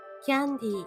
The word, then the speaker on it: キャンディー: Is it ka or kia? It's not ka. キャンディー。